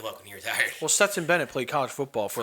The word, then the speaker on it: Stetson Bennett: Stanton Barrett. I don't know what sport. The NFL. No, NFL, college football. Stanton Barrett? Am I saying it right? Stetson Bennett.